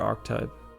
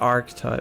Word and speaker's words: archetype: think it Bears some resemblance to the seceret archetype I call me a hobo just just asking um Arc Type is pronounced AR type not Arch type wait AR archetype archetype yeah really why don't